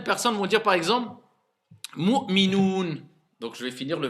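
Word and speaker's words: مؤمنون: Donc certains vont faire Mu'minon. Il y en a plein, ils le disent Mu'minon. Est-ce que ça c'est un OU? Non. Donc je dois dire Mu'minoun. D'accord? Faites bien attention à prononcer bien le OU et pas O.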